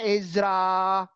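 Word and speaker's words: עזרא: Di sebelahnya ada huruf Ibrani dari kanan ke kiri, bacanya Ezra panjang. Karena ada alef di belakang. Ezra. Ezra. Itu hurufnya ayin. Dari paling kanan ayin, sebelah kirinya zain, sebelah kirinya resh, sebelah kirinya alef. Bacanya Ezra.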